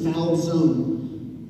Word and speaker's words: Falzone: My last name is Falzone, which rhymes with? Calzone.